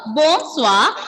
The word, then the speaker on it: bonsoir: Here, bonsoir, ending letter R will be silent. Ending letter R will be silent. And when you have letters O, I together, pronunciation will be ua. Ua. Ua. So, bonsoir. Bonsoir.